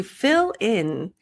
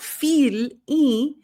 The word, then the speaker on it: fill in: To fill in, so not feel, but like it, fi, fill in, lin. So not fee and not relax your jaw.